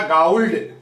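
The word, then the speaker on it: gold: ये गोल्ड लिखा है, जबकि इसका उच्चारण होगा गाउल्ड। क्या होगा? औ की मात्रा, इसको जैसे गोल्ड नहीं करके गाउल्ड बोलते हैं, तो ये जी, घ का जी हो गया।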